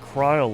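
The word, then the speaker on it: Krile: Apparently, cryle is pronounced cryle like vile or file.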